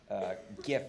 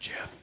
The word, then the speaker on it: GIF: After that, I guess milestones could be like simple GIF animations, maybe something like that, but. It's pronounced GIF.